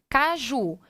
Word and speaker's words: caju: para você compreender melhor caju então quando eu digo não digo caju eu digo caju a sílaba tônica é a última sim que letra ela